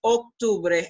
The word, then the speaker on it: Octubre: all the months pay attention in terms of pronunciation that o to Bray is an o se is not act is Octubre and then noviembre and in DC ember accept